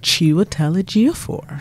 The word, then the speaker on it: Chiwetel Ejiofor: How would you pronounce the lead actor in that? Chiwetel Ejiofor.